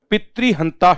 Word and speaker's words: पितृ: करने से आपको लगेगा ये है मातृ, ये है पितृ। ऋषि की मात्रा है, री का प्रयोग किया जाएगा इसमें।